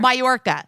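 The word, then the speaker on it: Mallorca: who's in major Ma how do you say that mayor oh yeah yeah that's that that's how you say it but I but it's spelled ARCA so in my head I have somewhere mayorca so she's in mayorca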